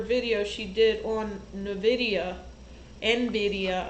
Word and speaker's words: NVIDIA: she did on nvidia nvidia i think is how it's pronounced but some people say nvidia the uh chip the